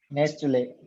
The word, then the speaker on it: Nestle: नेस्ले 2 syllable word Correct. It is not sorry. Nestle. यहाँ पे T silent है.